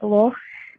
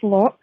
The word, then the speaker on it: loch: Love how the Americans can't say loch, and it comes out as lock.